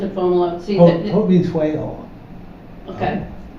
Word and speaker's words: Fomalhaut: You pronounce it Fomalot. See, Haut means whale. okay. Yeah, because there's I've seen different pronunciations, and the two I see are Fomalo or Fomalot.